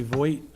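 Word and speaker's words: Voight: For the record, my name is Voigt. It's spelled V-O-I-G-H-T.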